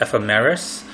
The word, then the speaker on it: ephemeris: It's pronounced the way I'm saying it, ephemeris, and it's spelled Ephemeris.